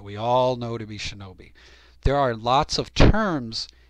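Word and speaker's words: 忍: itself and it is a noun and it's pronounced shinobi and like i said in the tahiki it's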